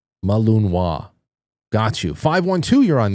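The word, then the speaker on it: Malinois: Jay Britz just said, "Frank, it's pronounced Belgian Malunwa." Malunwa. Malunwa.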